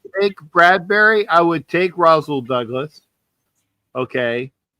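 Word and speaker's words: Rasul: I would take Rosel Douglas. Okay. Every time I say his name, I think I'm I'm saying Razison Ghoul, you know, like from you know. Yeah. But yeah, Roz Rosel Douglas.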